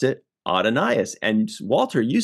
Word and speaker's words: Adonais: our friend Google um said in one thing it said it's pronounced just like Adonis I'm like that's pretty